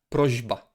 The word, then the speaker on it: prośba: Prośba. It's not prośba, prośba. It's prośba, prośba. Why? Because it's just easier to pronounce in that way.